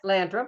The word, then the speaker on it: Landrum: Am I pronouncing that right? Yeah, Landrum.